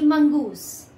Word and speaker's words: mongoose: Hello everyone, your English teacher, and today we'll read the chapter The Friendly Mongoose. The pronunciation is Mongoose.